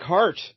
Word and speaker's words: Hart: So Jack of Hearts, this fella here, his real name, get a load of this, Jonathan Jack Hart. Yeah. But it's spelled H-A-R-T. So, Yeah, like heart to heart.